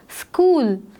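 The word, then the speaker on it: school: स्कूल, स्कूल में एच जो है वो एक साइलेंट लेटर है, इसको प्रोनाउंस करते वक्त हम स्कूल कर रहे हैं, जिसमें एच जो है उसकी आवाज़, उसकी प्रोनाउंसिएशन जो है वो हमें नहीं आ रही है।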